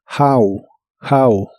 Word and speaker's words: how: How que significa Cómo la H se pronuncia como una J suave de español y la o como una a How how y usarás el interrogativo